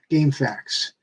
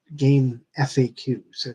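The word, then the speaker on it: GameFAQs: the problem I have is that I am asking this question on game facts yes game facts it's not game FAQs that's the stupid way pronouncing it but um Throwing Shade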